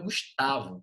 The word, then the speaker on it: Gustavo: tá no Tá ok eu não falo gust e nem Gustavo gustavu meu nome é Gustavo com a sílaba tônica professor professor mas Gustav